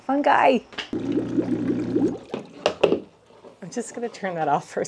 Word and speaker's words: fungi: Okay, I'm just jumping in for a second because in the following clip, I pronounce the word fungi wrong. So please ignore me every time I say fungi. It's fungi, fungi.